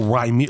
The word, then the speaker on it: Rymir: Oh, Rymir, like rhyme.